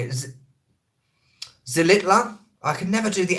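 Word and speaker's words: Xilitla: Zilitla? I can never do the X. The H is silent. In what? I'm lost. Tamul waterfall, that is a definite, absolute 100,000,000% gonna happen. Zilitla.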